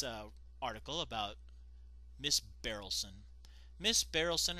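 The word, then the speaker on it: Berylson: Oh no, it's spelled wrong here too. It's supposed to be B-E-R-Y-L-S-O-N. Barrelson.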